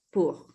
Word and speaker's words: pour: Entonces, como algunas cositas, por ejemplo, para tener en cuenta en cuanto a pronunciación, es, por ejemplo, la O y la U se pronuncia como una U.